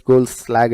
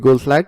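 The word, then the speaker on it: Goldschlag: David Goldslag, I cannot pronounce that word, it's Goldslag, I guess. Mr. David Goldslag or Mr.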